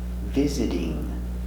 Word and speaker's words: visiting: We change t, sound d. Visit. Visity. Visiting.